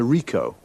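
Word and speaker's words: Ricoh: a camera what Mak a model it's a Rico Rico how do you spell that r i c o h okay got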